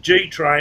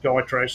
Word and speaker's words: Gytrash: They pronounce it G Train. I'd say I still pronounce it Guy Trash. So yeah. For anyone who doesn't know what that is, it's GYTRASH. Guy Trash. That's what I say.